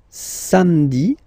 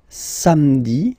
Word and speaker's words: samedi: Then, samedi, samedi, don't insist on the hein?